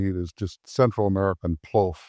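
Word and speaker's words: plov: is just Central American PL. The P L O F is what it sounds like. They spell it P L O V, but it's it's rice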